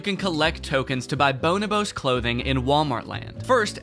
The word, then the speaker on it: Bonobos: Is that how you pronounce it? I looked it up afterwards, and it is not. Bonobos.